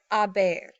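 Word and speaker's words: haber: and an they have again do not pronounce the H's so it's a a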